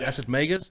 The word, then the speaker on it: Acid Magus: literally checked on google the pronunciation is magus like las vegas so yeah acid magus